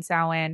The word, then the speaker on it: Samhain: little girl and and Samhain soin however you want to pronounce it and then also I